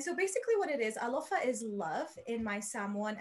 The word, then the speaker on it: Alofa: Am I saying it right? Alofa, yes.